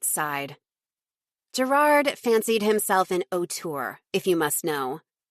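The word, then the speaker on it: auteur: Do you mean an otter? I asked confused at her pronunciation. Why would I mean otter? Brit snapped. An otour is a filmmaker as in screenwriter and director.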